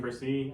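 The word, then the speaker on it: Bresee: at 18 Argentina Brian versie out of Clemson is that correct pronunciation I'm pretty sure it's Brian bercy yeah um if it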